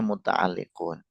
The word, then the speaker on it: mutaalliqun: Tapi umumnya itu bacanya mutaalliqun.